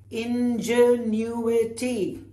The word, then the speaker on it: ingenuity: And now the last one, which is ingenuity, which means genius or somebody who's very clever, all right? Ingenuity, not ingenuity. Is ingenuity. How many syllables is that? Ingenuity. Five.